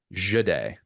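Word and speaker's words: Jahdae: Jade Barron, who, by the way, I looked up the pronunciation because I think I heard three different pronunciations of Jade during the broadcast. Jade, like that's the official guide.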